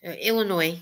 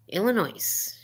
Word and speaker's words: Illinois: LOL I'm in Illinois Illinois because you don't pronounce the S and to me I pronounce the yes even though that you guys some people do on some people do Illinois Illinois and guys Illinois